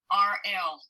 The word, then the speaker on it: Chyrl: Chyrl, like Cheryl.